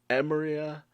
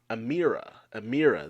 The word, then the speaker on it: Amira: But this is quickly turned into anger as she is met by her twin older siblings, Emiria, Amira, that's how it's pronounced, and Edric.